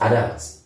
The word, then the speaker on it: adult: So if you look at this is a, the first syllable, and the second is doubt. Do not be confused by the U and be thinking it's O. No, it's a.